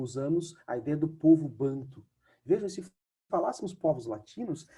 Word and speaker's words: bantu: banto é uma um tronco língua último banco bantu é o como se fala povos bando quer